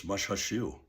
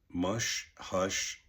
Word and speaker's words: Mushhushushu: I've looked at it how it breaks down phonetically and um uh and uh and I think it's mushu mush hush.